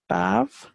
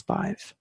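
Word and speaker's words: Badb: we have five and you will hear vibes name pronounced above sometimes and for me it's five so the reason is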